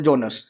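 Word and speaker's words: genre: एरेनासिस critics rank the epic as द, ये मैंने अभी बताया आपको, हाईएस्ट ऑफ ऑल जोनर्स। इसको बोलते हैं जोनर। प्रोनाउंसिएशन का ध्यान रखना, जोनर यानी लिटरेचर टर्म्स होते हैं जितने भी सारे।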